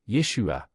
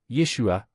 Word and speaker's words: Yeshua: Le nom authentique est hébreu, Yeshua, ou, plus précisément, Yeshua, selon la prononciation.